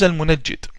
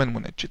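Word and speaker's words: المنجد: His name is Al-Munajjid or Al-Munjid, depending on the pronunciation. The Yemenis call him Al-Mungid or Al-Munajjid. I call him Al-Munajjid.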